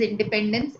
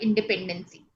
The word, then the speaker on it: independence: And the pronunciation of the word independence is independence and not independency.